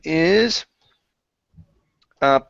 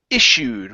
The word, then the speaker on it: issued: every time okay but the Double Double S Plus a uh uh plus the U um we change that to an sh sound okay some people do say ISU okay but it's issued issued issued okay so the king